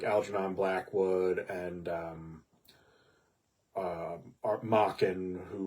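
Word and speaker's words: Machen: it now like Alon Blackwood and um uh mockin who rhymes with Dawan and and people like that um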